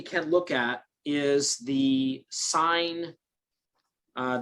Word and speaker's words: sin: look at is the sine uh this s i n here that's pronounced sine and notice it has